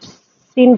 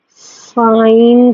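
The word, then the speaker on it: sine: This is नॉट सिन theta. ठीक है, इसको बच्चे बोलते हैं सिन theta, that is wrong. This is नॉट सिन theta, this is साइन theta. Okay, pronunciation please proper होनी चाहिए।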